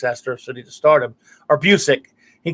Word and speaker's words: Busiek: But the thing that catapulted the writer of Astro City, Kurt Busiek's Astro City, to stardom, or Busiek, he pronounces it Busiek, not Busiek.